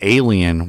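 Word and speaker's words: allein: It was, I believe, pronounced alien. It was just with a second L in it, but it was the German word for alone.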